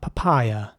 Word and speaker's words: papaya: Next up, papaya. And papaya is spelled P-A-P-A-Y-A, and it's pronounced papaya.